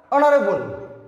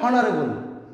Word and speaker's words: অনারেবল: তারপরে অনারেবল, অনারেবল আমরা বলছি না যে হনারেবল, অর্থাৎ এইচ একটি কনসোনেন্ট আর এইচটা উচ্চারিত হচ্ছে না, এইচটা সাইলেন্ট ভাবে রয়েছে।